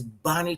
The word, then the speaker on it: Bahni: Bonnie that I know her name is spelled b a h ni I Bonnie and still pronounce the same way Bonnie Turpin she is a